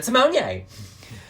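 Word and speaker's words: Simoné: Yeah, she was like, that's how you pronounce it. Interesting. Like, thank you, Ru. Yeah. Raven Simonier.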